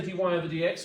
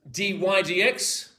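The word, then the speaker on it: dy/dx: Do not say dy over dx. Well it sort of is. It is pronounced as dydx d or the the derivative derivative of y with respect to x.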